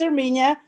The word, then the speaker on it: Erminia: How is it pronounced? Erminia. Her first name is Erminia, and you Armenia.